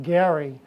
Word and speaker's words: Gerry: Even though his name is actually pronounced Gary, it really should be called gerrymandering, but it's gerrymandering.